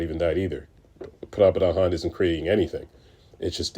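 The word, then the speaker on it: परब्रह्मन्: People may say para-Brahman, right? But if you're using Sanskrit, if you're trying to use Sanskrit terminology, it's Pra-Brahman. I'm saying it wrong, but it's the best I can do with my English language.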